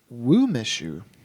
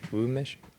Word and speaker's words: Umeshu: I think it's pronounced I don't know. Choya? Wumeshu. Umeshu.